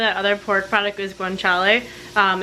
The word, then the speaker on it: guanciale: the name of that other pork product is guanciale and it's like the pig jowl so sorry I couldn't remember how to pronounce it but that's how you pronounce it